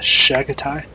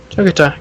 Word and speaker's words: Chagatai: Shagatai? Shagatai? Ah, Chagatai, cool.